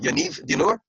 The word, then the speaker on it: Yaniv Dinur: So one more time, Yaniv Dinur. Sorry? The correct pronunciation of your name, Yaniv Dinur?